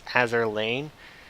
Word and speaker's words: Azur Lane: I keep saying land mhm. because when I first saw it around, people would just spell it without the e, but it's Azur Lane.